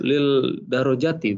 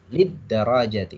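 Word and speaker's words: للدرجات: yang lid darojati atau lil darojati bacanya? Lid darajati. Ini ketemunya alif lam syamsiyah ya. Alif lam syamsiyah. Dal ini huruf syamsiyah, jadi bacanya lid darajati.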